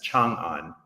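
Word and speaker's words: Chang'an: the past it was known as Chong on so Chang an is the same as Shion and you can see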